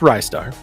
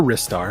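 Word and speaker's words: Ristar: this one first off it's rye star or wrist star however you pronounce it i say rye star i think thanks star sounds a little bit better i like it uh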